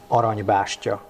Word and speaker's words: Aranybástya: Can you pronounce the name of the restaurant for my Canadian friends watching this once again? It's Aranybástya.